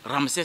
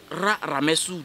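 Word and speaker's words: Ramsès: pour dire ramsè 2 ça c'est purement occidental c'est les les égyptologues après leur découverte ont voulu que la prononciation soit plus facile au lieu de dire RA Ramous de ils disent ramsè 2 donc quand des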